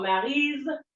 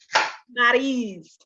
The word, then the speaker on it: Maryse: So when I say my name, I say, even though it is spelled with an S, I need you to say it like it's a Z. So Maryse rhymes with breeze. Maryse. Yeah. Like Drew Brees.